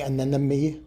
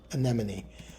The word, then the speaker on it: anemone: Was I saying anem? I think I wasn't. Anemone.